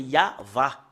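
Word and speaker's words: יהוה: Et si on fait un recoupement, comment on lit le Yod, He, Vav, He, c'est vraiment très très clair. C'est comme ça qu'on le lit. Depuis ici jusque-là, c'est Yahva. Voilà.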